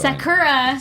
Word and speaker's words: Sakura: They change the intonation to the first syllable instead of the middle.